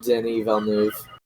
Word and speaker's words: Denis Villeneuve: He hates Denis Villeneuve, which is how you pronounce his name.